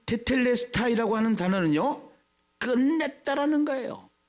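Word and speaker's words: τετέλεσται: 그거를 정확하게 발음하면 테텔레스타이.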